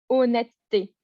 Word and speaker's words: honnêteté: net t'es ok on enlève le haut on prononce pas on dit juste honnêteté on insiste sur le tas parce que normalement